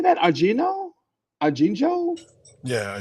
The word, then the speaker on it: ajenjo: Argino? Arginjo? Yeah, ajenjo.